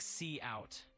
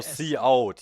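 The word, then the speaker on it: cout: Yeah, it is indeed pronounced like see out for coot.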